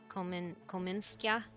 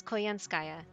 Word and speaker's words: Koyanskaya: We had forgotten that you are from the same world as Akuta, Kominska. Did they just say her name wrong? Kominska? My name is Koyanskaya, Your Imperial Majesty.